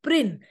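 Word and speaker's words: Prynne: her name is Hester prin look at how Prince rhymes with sin okay there is a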